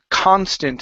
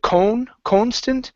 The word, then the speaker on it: constant: And our last one here is constant. Instead of cone constant, it's an a sound.